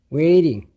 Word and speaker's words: waiting: 기다리게 하다 이렇게 됩니다 웨이팅이라는 단어는 발음을 waiting이라고 해도 되고 보통 원인인들은 부드럽게 웨이링 이렇게 합니다 기다리게 해서 죄송합니다 영어로